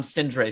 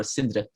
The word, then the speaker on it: Sindre: Oh boy, but then again, I'm Sindre still to most people here, or Sindre, as you would say.